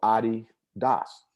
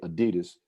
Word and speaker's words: Adidas: was doctor d-a-s-s-l-e-r so adi das is what it is so pretty much mostly only americans say adidas which is acceptable because in america that's what it's called but the rest of